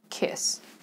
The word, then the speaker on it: kiss: You pronounce it kind of low in your mouth. Kiss, kiss.